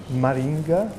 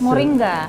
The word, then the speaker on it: Moringa: mention uh something that probably I Mis pron pronounce uh Maringa it's a flower it's a plant in an yes uh somebody introduced me to this flower which you can use for tea for cakes Moringa Moringa thank you for helping me H and